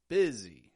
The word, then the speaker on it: busy: a LAX eye B and then the s in busy isn't making a regular s kind of sound at all is it sounding a little bit more like a z it's getting some voice sound sounding like a z busy and that is my